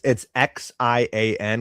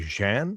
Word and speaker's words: Xian: It's Xian, which is pronounced, I think, Shan.